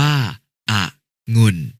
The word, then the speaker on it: องุ่น: แหวน เช่น คำ ว่า องุ่น อ่าน ว่า อะงุ่น กนก อ่าน ว่า กะนก